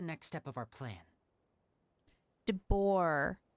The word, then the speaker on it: de Boer: Meet me outside Hotel de Boer tomorrow, and then we'll start the next step of our plan. De Boer. There's no D.